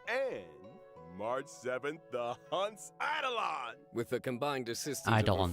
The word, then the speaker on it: Eidolon: ending, Trailblazers can acquire Stellar Jade and March 7th, the Hunt's Eidolon.